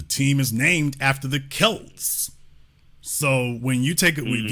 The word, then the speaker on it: Celt: that's one of them so it's it's actually pronounced kelt the the Celtics from the kelt as opposed